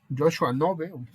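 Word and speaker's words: Knobe: Joshua Nove, así se pronuncia, me parece, que es el que hizo este tema de la filosofía experimental, ¿no?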